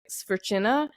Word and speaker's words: Svrcina: came to America, because the pronunciation is supposed to be like Svrcina, and there are a few other letters in it that make it look even more confusing. But Svrcina, it's been spelled that